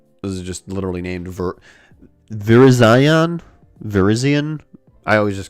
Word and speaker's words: Virizion: This is just literally named Virizion. Virizion. I always just called it Verizon.